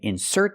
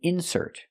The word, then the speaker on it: insert: and that's a verb they mean different things depending on where you put the stress so it's correct to say you can insert the card putting the stress on the second syllable because it's a verb example this is an insert it's a noun it's something inserted in the magazine it's called an insert it's a noun we put the stress on the first syllable this is an insert